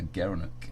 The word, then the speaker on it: gerenuk: gara gara knew gerenuk he pronounced as a gerenuk the gerenuk yeah you